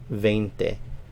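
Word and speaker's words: veinte: hear people say but when it's in the flow of a sentence it's a little softer so sometimes you'll hear people pronounce it vente vente so again you'll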